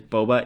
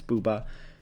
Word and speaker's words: bouba: boba ba you know I'm going to keep mispronouncing it because boba is like the best thing in the world and I keep thinking boba but it's bubba and so Ranzo is